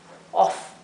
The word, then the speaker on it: of: significa de Sin embargo no se pronuncia como of se pronuncia como si fuera una o y una V of se pronuncia verdad si pronunciemos la f of significaría esta palabra que